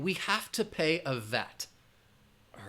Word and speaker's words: VAT: But again, it's an acronym. You're going to pronounce it as one word, VAT.